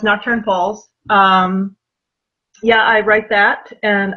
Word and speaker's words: Nocturne Falls: No, it's Nocturne Falls. It's not Nocturnal Falls. That's what I almost said. Yeah, no, I get that. It's okay. No, it's Nocturne Falls.